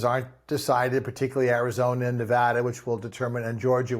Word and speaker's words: Nevada: as a sidebar that you said Nevada it's the correct way not Nevada as some politicians like to go in and say it wrong good job um but